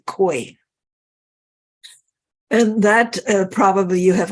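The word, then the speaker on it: Kwai: Quay yeah it's k it's looks like it's spelled like Kauai but it's quite as my Vietnamese tour guide to us we should say koi and that probably you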